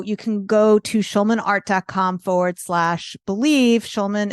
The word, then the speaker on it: Schulman: Schulman is spelled like school, SCH.